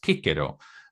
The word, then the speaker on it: Cicero: that should be pronounced Kiko, but um anyway, that's very Italian. Yeah, apparently the C is not pronounced like an S at all in in Latin, but and the V is not pronounced like a V either.